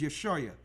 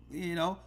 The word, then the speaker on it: Yashaya: His name is YASHAYA, Savior. You got it? Yes, Elder. Could you say that name one more time so I can try to pronounce it? Write it down. Pick up your phone. YASHAYA.